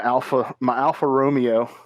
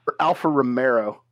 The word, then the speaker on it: Alfa Romeo: My Alfa Romeo. Or Alfa Romero. That's a dagger in my heart every time I hear it called that.